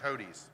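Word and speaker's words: Hodes: go ahead what you want to say I spell it h-o-d-e-s hotis okay I'm here it's hodies hodies okay whatever you're gonna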